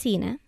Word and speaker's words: Zina: email my name is zina it's pronounced inna een a like Regina what you're about to